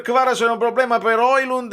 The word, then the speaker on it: Højlund: Mi sono divertito nella reaction, se vuoi andare vicino alla pronuncia, insomma, più nordica, puoi raspare, tu rasp, vabbè. Però sì, Højlund, proprio se lo leggi con la J come se fosse una I, è difficile dire Højlund. Perché dire Højlund?